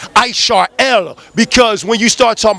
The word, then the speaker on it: Israel: of ancient Israel but it really should be pronounced isarel because when you start